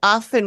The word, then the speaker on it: often: you say a word well then why would you say often with a t because the t is in there we have do you